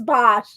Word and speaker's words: Bosch: And I spelled his name wrong, but it's Bosch.